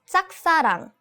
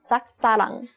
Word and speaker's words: 짝사랑: It's 짝사랑. 짝사랑. Right. This the pronunciation of 짝 is not easy.